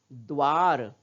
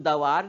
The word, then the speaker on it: द्वार: उसी तरह द्वार, इसको हम दवार नहीं बोलते ना, दवार पढ़ते हैं क्या, नहीं, हम क्या पढ़ रहे हैं, द्वार। क्यों, क्योंकि द का उच्चारण हम आधा ही कर रहे हैं। और आधा क्यों कर रहे हैं, क्योंकि द के नीचे हल चिन्ह लगा है।